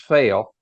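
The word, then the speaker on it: Pfail: by a gentleman named Brian p-f-a-i-l I guess that's pronounced fail but uh he says well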